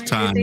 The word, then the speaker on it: Tyne: Spell that first name you keep saying. T Y N E This is Tyne Daly.